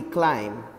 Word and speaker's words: climb: am B crime now B is silent here though alphabet B is there at the end of the word but it is not to be pronounced while pronouncing you have